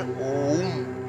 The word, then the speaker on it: ওম্: ওম শব্দের অর্থটা কি ওম শব্দের শুদ্ধ উচ্চারণ হচ্ছে ওম ঠিক আছে এই ওম